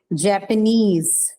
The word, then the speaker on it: Japanese: If you find these suffixes in the word, then the stress is on the suffix itself. So example, trainee, like the one that we discussed, Japanese, Chinese, right?